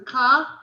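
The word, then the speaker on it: כ: And the like or the as is a ka. Yeah, a ka or a cha, depending again what's before it. So the one with the dot in it is a bet. Yep. If it has a dot, it's a bet. Yeah. If it has no dot, it's a vet. Right. And the ka always has a dot. A ka has a dot and a cha has no dot.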